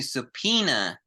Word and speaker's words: subpoena: support their case this includes the ability to subpena again pronunciation subpoena subpena subpena is to call people